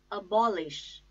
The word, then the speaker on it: abolish: second syllable burn abandon abolish abolish bomb ish I repeat ball ish the stress is on second syllable ball abolish abolish so